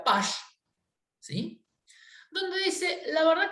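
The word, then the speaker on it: Paasche: Entonces aparece otro muchacho que se escribe Pache, pero se pronuncia Pash, ¿sí?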